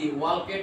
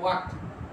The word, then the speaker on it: walked: যেমন অ্যাজ এখানে হতে পারে কি উই ওয়ার্কড, WALKED, ওয়ালকেড না, উচ্চারণ ওয়ার্কড, a long distance, DISTANCE, long distance, এটাও হতে পারে।